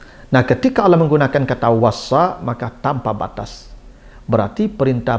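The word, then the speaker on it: وصّى: Makanya cara membacanya ditasdidkan, wassa. Wassa itu ada tekanan, tasdid namanya, syiddah, ada kekuatan.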